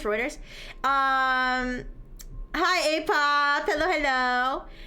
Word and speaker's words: Reuters: I don't know if you know that's how you pronounce Ruters. Reuters.